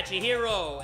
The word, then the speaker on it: Chihiro: sure i'm saying it right chihiro right yeah chihiro aka alter ego he can talk but what